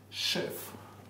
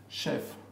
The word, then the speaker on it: chef: However, there are quite a few words with the ch spelling that are pronounced as sh, chef. Pronounced sh. Sh, chef, machine, mustache.